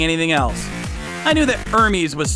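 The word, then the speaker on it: Hermès: But I restrained myself from lecturing them that you don't pronounce the H in the company's name.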